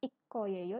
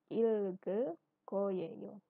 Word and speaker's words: 읽을 거예요: Bacanya ge yang di sini dilebur sama yang di belakangnya ya. Jadi bukan ik koyeyo tapi ilge koyeyo.